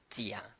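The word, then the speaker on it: 甲: The Chinese character is read as Jia, so we use the Jar. The Jia is the closest sound.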